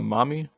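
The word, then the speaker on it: Mami: Uh, mommy like M O M M Y. Well, it's pronounced like that, but it's M A M I.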